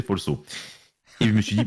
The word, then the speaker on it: Folceau: Et c'est qu'après que je me suis rendu compte qu'en fait, la prononciation, ça faisait Folso.